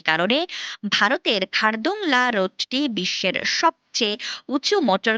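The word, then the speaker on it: Khardung La: রাস্তার তালিকায় এসেছে ভারতের খারদুংলা রোডের কথা। প্রায় 39 কিলোমিটার দীর্ঘ এই রাস্তা ভারতের জম্মু ও কাশ্মীরের লাদাখ অঞ্চলের একটি পর্বত পাস। এর স্থানীয় উচ্চারণ খারডংলা বা হার্ট জংলা এছাড়া খারদুমলা রোডটি ঐতিহাসিকভাবে গুরুত্বপূর্ণ।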